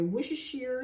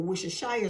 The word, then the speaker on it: Worcestershire: one garlic i have my wishes sheer sauce or worcestershire sauce whatever way you prefer to pronounce it what's this hair